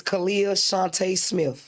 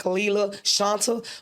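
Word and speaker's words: Khalilah Shunta Smith: of ghetto terminology because the way that it's spelled like Kalila Shanta. But I just want to correct everybody, let you know it's Kalia Shante Smith, Smith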